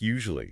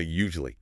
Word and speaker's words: usually: And teacher Paulo also tackled those long tricky words where we tend to just like swallow the middle syllables. Like usually. I always hear people say usually.